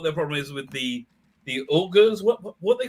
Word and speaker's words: Uyghurs: They're pronounced Uyghurs.